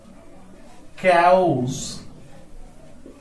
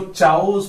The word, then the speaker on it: chaos: बहुत सारे बच्चे और बहुत सारे लोग इसको चाओस पढ़ लेते हैं, बहुत सारे लोग इसको चाओस पढ़ते हैं।